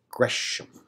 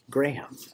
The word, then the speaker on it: Gresham: by william lindsey gresham that's lindsey gresham not lindsey graham this first entry is